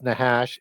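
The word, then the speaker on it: נחש: the root word is nahash n a c h a and a lot of times CH is pronounced as a h sound in Hebrew um it means Necromancer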